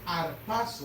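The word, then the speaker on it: ἁρπάζω: Y en el verbo griego se dice arpazo, esa palabra.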